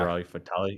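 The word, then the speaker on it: Liberi Fatali: Is that how you pronounce that? Yeah. Liberali Fatali.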